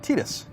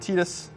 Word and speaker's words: Tidus: to us from Square this action figure of tetus or Titus if you don't want to pronounce it like the Japanese do so I want to